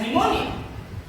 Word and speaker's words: pneumonia: Has cold, उसे निमोनिया है तो ही हैज निमोनिया। स्टूडेंट्स ध्यान रखिए निमोनिया की स्पेलिंग पी से स्टार्ट होती है, पी से, PNEUMONIA, निमोनिया।